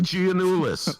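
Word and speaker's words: Giannoulias: there did I hang up on you Alexi ganis oh thank you I forgot to put the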